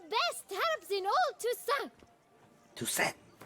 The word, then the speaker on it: Toussaint: Toussaint. They almost say it like Tucson. Tucson with an accent.